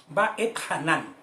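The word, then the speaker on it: Va'etchanan: Va et Hanan, con acento en la última, Hanan.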